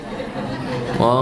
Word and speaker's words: eau: Eau de toilete artinya adalah o toilet bacanya. Eau atau o itu artinya air toilet ya toilet.